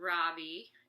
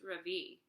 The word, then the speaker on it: Ravi: Ravi how do you like Einstein so far Robbie asked Dylan actually it's pronounced Ravi I say today has been my best day